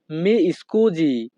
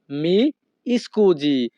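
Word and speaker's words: mi scusi: মাফ করবেন এই বাক্যের ইতালিয়ান ভাষা হবে মি স্কুজি। মি স্কুজি। এখানে SI এর উচ্চারণ হবে জি।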